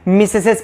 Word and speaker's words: mesdames: ठीक है, वैसे प्रोनाउंसिएट करेंगे तो मिसडमीज हो जाएगा, लेकिन नहीं मिसडमीज नहीं पढ़ना है, मिसेसेस पढ़ना है हमको।